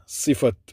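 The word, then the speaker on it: صفة: சிஃபத். சிஃபா அது தாவை நாங்கள் ப்ரொனவுன்ஸ் பண்ணுறது சிஃபா என்று சொல்லுவோம். ஆனால் சிஃபத் என்ன சொல்லுவோம், பிரச்சனை இல்லை.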